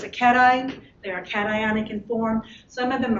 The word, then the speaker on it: cation: charged that is their cations and that's how that's pronounced cation i know it looks like it should be cajun but it isn't um anion negatively charged